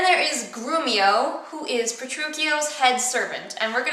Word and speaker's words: Petruchio: you pronounce his name, Petruchio, with a k sound. A lot of people pronounce it Petruchio, but I don't think that's correct. I was always taught it's Petruchio.